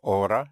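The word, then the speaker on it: hora: A or a spelled H O R A means hour and the H is not pronounced in Spanish. So aura means hour.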